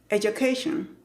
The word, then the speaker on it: education: Entonces, no es you con la u del español, ni you, es ya. Y la segunda parte de la palabra que tiene varias sílabas es K y luego shan. No es shon. No digas shon. No digas education or education or education. No. De nuevo, es education.